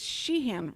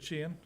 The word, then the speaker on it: Sheeran: think about noise but Ed Sheeran it it's Sheehan right Edge Ed Sheeran yes Ed Sheeran I'm gonna say it right